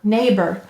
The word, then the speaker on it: neighbor: Neighbor. Notice that said its schwa sound, in an unstressed syllable.